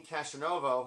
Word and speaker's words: Castronovo: And then Jack Blades was also in this band, the Revelation Saints, which finally saw Dean Castronovo, that's how I say his name, from Journey and Bad English, singing lead on something because he's got an amazing voice.